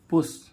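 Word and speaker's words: push: क्या होता है पूर्ण ऐसे इसमें हम देखें पुश पी यू एस एच पुश पुश means क्या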